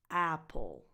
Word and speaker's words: Apple: number nine Apple Apple the stress is on the first vowel and it has the same sound that it has in words like cat and bad at so a apple and then the rest is unstressed so it's not